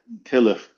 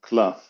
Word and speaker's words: klaf: And I was going to say, why is kelef the correct pronunciation and not klaf? The reason is because ata mekalef, you peel the pieces apart. It's the kelef, it's the part which is peeled off.